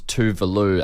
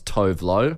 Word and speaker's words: Tuvalu: We play a lot of her on the station, but I used to pronounce Tuvalu as Tovlo.